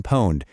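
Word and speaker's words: Pwned: There's a fantastic free tool called Have I Been Poned? That's spelled PWN.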